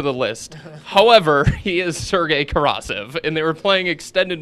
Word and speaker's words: Sergei Karasev: How you pronounce his name? Karasev? Sergei Karasev.